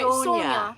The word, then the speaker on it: Sonia: So this is Sonia. No, Good job. You said it right. You have She to is- say it like you're Russian. Right, Sonia. Sonia.